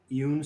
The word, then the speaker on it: Ioun: The Eun Stone, I suppose is the way it's pronounced, of mastery.